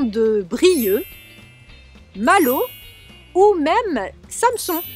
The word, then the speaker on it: Samson: brilleux Malo ou même Samson que l'on prononce aussi sans son alors Paul Aurélien a